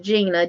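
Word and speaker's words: Giny: It's pronounced Gina, G-I-N-Y.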